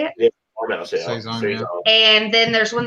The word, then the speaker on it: Saison: Yeah, Saison.